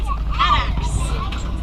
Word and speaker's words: addax: And then over to the right, those squiggly horned antelope are called addax. That's spelled A-D-D-A-X.